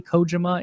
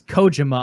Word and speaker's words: Kojima: technically Kojima in Japan.